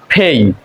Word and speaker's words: pay: PAY আমরা পে বলি, কিন্তু এটা উচ্চারণ হবে ফেই।